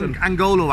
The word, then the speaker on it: Angolo: Yeah, the Nonglos from Castleknock. Who doesn't know them? Nonglo, that's great. How do you spell Nonglo? Is it an N at the start? Angolo, actually. Angolo. I said it wrong.